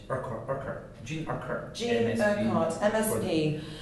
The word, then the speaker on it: Urquhart: Law Reform Scotland Bill, and how would you pronounce that last name? Urquhart.